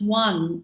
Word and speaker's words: one: about a sight word where if we pronounce one w-o-n i won that cup um i get one one we have a